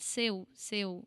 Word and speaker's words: seu: Seu. It sounds more like a no when you think about it.